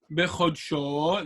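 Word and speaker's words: בְּחָדְשׁוֹ: Bechodsho. The accent is on the last syllable.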